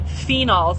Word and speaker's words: phenols: science behind this, check out the science behind phenols. That's spelled P-H-E-N-O-L-S, phenols.